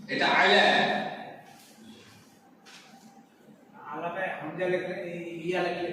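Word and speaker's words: إلى: আচ্ছা বলছি অ্যাকচুয়ালি আইন এটা, তারপরে লাম লাম, এই যেখানে টান হবে বলে একটা ইয়া লাগে আলা আইলা, মানে ইয়াটা উচ্চারণ হবে না, এক আলিফ টান হ্যাঁ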